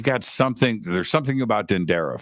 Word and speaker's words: Dendera: something there's something about dendera for me dendara dendera um yeah they corrected me like three times dendara and it has an H you guys the Americans spell it wrong I was like oh